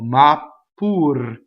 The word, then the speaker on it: ma pur: Ma is a strong monosyllable. Ma pur. Again, you go up to the P, you don't say it. Ma pur. As long as I don't say it, it's a double P.